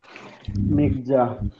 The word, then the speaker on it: Nexa: ফন্টগুলোর নাম হচ্ছে, একটা হচ্ছে আগের গুলো থেকে বলি, নেকজা, জি জি তারপর আরেকবার।